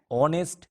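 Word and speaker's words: honest: বাট অ্যান HS school, an অনেস্ট ম্যান, এক্ষেত্রে এইচ এর উচ্চারণে শুরুতে স্বরধ্বনি আছে, তাই অ্যান আর্টিকেল বসেছে।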